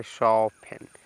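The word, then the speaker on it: soften: है ना नेक्स्ट देखिए यहां पे ई एन है तो टी साइलेंट हो जाएगा तो इसको पढ़ेंगे सफन सफन मींस होता है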